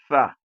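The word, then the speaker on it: ث: So tha and sa, tha, tha. You bring your tongue out to the middle and let it comes out in between your teeth. So this is how you pronounce the tha, tha.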